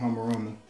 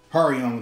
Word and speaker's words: Hariyama: Pronounce the name. Got Thet from the black and white legendary. Got Makuhita and Hamorama. Hariyama, there we go.